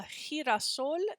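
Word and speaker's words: girasol: tricky one that we do g but in spanish they do jay rafa a hirasol is a sunflower in spanish that's with a g and the last one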